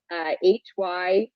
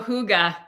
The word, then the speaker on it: hygge: It was HYGGE. Oh, hygge. Hygge. Hygge. Yes. Yeah, it's pronounced.